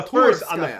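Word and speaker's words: Tsurskaya: So on the Turskaya. first syllable, Yeah.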